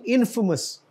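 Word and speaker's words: infamous: मेंट और ये जो है इनफेमस इनफेमस नहीं इनफेमस बदनाम के मानों में तो एक दफा मैं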